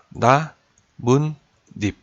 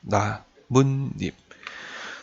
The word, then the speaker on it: 나뭇잎: 2 jp 합쳐진 겁니다 이건 제 발음을 한번 해보면 어떻게 발음 거에요 나 문 님 이렇게 바로 마죠 나 문 잎 나무 잎 이 라고 발음한 사람 있나요 혹시 개입 10개 님